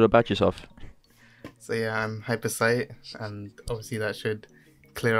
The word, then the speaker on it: hypercyte: us a bit about yourself so yeah I'm hyper sight and see that should clear up the confusion and how it's pronounced since a lot of people say hyper cut some reason or hypocrites all right but yeah I'm an OC beam